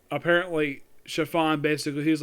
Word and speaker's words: Chiffon: I see a name it looks like it's pronounced Clifton it's actually chiffon it's well according to my mom who actually